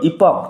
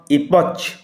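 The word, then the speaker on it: epoch: উচ্চারণ লক্ষ্য করো, ইপক, নট ইপচ। সিএইচ এখানে ক উচ্চারণ হবে।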